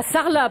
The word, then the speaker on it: Sarlat: Alors, à Sarlat, pour le coup, là, Sarlat, tu prononces pas le T.